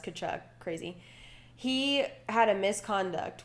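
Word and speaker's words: Tkachuk: chuck what a name starts with a T but it's pronounced could chuck crazy he had a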